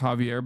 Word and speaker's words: Xavier: Xavier's pronounced Javier by the way.